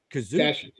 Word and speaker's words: Kashyyyk: Well, Han was trying to get Chewie back to his home on Kashyyyk, or as they pronounce it, Kazook.